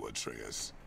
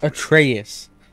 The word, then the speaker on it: Atreus: is difficult and you atreyas are clearly not atreus that's how you say it guys the name is